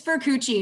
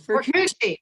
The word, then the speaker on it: Furcucci: It's Furcucci. No one ever wants to say it. It's a hard C. Furcucci.